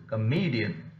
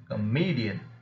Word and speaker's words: comedian: rested the stress indeed then comedian comedian here it's a trisyllabic word therefore me happens to be the second syllable from the last which is already received the stress and then the first